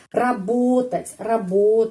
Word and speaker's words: работать: Работать. Penekanannya di sini. Karena itu O tetap O.